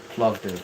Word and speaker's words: Plovdiv: Let's Google it, shall we? Plovdiv. Plovdiv, I was right.